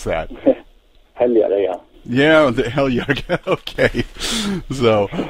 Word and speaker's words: Heljareyga: How do you pronounce that? Heljareyga.